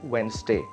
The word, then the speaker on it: Wednesday: all aware of but you can say it like Wednesday instead of d d can be silent right you can say